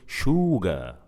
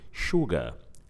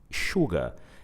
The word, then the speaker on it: sugar: We don't say sugar. We don't say it like that. It's not long, it's short. Sugar, sugar.